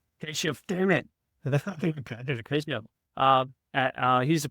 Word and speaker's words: Keshov: Today I have Keshov, and he helped me pronounce that. Thank you. Galore Keshov. Keshov, damn it.